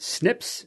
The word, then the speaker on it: SNPs: researchers looked for were single nucleotide polymorphisms snps which are pronounced Snips which we've which we've